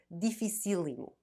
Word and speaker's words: dificílimo: Fácil becomes facílimo and difícil, dificílimo. Note how the accent changes syllable.